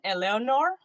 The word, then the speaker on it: Eleonor: name is like oh so we we pronounce it yes okay the second name is eleanor eleanor okay so yay i did something